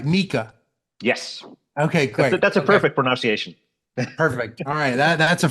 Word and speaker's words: Miikka: All right, Miikka. Yes, Okay, great. that's a Okay, perfect pronunciation.